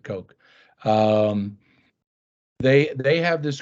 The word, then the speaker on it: Koch: charles coke okay or some people pronounce it cook but uh yeah i think he pronounces it coke um they they have